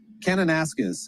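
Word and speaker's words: Kananaskis: David, what's a proper pronunciation there? Canonasis.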